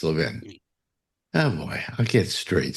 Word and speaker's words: Levin: It's Levin. Oh boy, I'll get straight someday. When I say Levin, I know I'm saying it wrong because it sounds like 11.